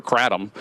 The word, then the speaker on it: kratom: And my concern is that's the actual concern of either kratom, which how you pronounce it, or kratom, how the rest of you pronounced it.